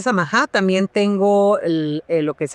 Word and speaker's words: Samaha: Sí, fíjate, es un nombre no muy común porque es de origen libanés y se pronuncia y el apellido se pronuncia Samaha.